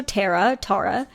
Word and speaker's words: Tahra: And it's spelled Tahra as her first name, so Tara.